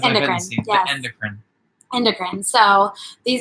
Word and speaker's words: endocrine: Endoctrine. Nope. That's what I said when I first endocrine. Endocrine, yes. I said indoctrine. Well, it looks like endocrine, but then anyway, it's endocrine.